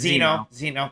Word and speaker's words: Zeno: Is that how you say it? No, it's Zeno.